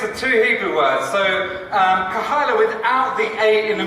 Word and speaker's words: Kahaila: So let's just get this right from the beginning because everyone pronounces it wrong. So it's Kahaila, and it's a mix of two Hebrew words. So Kahaila without the A in the middle, okay, means community.